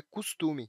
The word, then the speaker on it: costume: Em várias regiões do Brasil, a pronúncia mais natural é "custume".